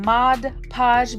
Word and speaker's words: Mod Podge: And I'm saying Mod Podge because that's how you say it.